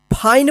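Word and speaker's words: fine: आई रहेगा भवेल तो आई का आई उच्चारण होगा और ई का उच्चारण नहीं होगा जैसे फाइन ठीक है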